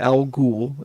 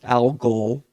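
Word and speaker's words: Algol: Um, so the new album, it's not Al Ghoul, it's Al Gaul like the star. A L G O L.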